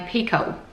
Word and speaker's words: Picoult: Somebody told me you pronounce her name Pico.